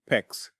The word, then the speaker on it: PEX: PEX rhymes with flex are fantastic materials, but